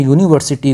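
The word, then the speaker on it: university: अगर हम यहाँ पे लिखते हैं यूनिवर्सिटी को, तो यहाँ पे यूनिवर्सिटी की जो साउंड है, जो प्रोनाउंसिएशन है, ये स्टार्ट हो रही है कॉन्सोनेंट साउंड से, इस वजह से आर्टिकल यहाँ पे इसका ए करेक्ट हो जाएगा।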